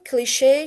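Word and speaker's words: cliché: Machine, cliche, Chicago. They are pronounced with sh.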